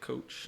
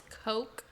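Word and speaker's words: Koch: for ever and still i say it coach i don't i don't know it's but he makes it you say it wrong yeah it says it's coke like k-o-c-h i think that's how it's pronounced people may harass me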